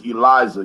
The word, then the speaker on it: Eliezer: My real name is Eliza, y'all. Okay. Eliza. It's spelled Eliezer, biblical.